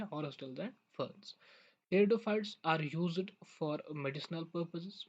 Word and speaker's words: Pteridophytes: तो स्टार्ट करते हैं आज का टॉपिक, दैट इज टेरिडोफाइट्स। ठीक है ना। यहाँ पे पी साइलेंट रहता है, टेरिडोफाइट्स पढ़ते हैं इसको।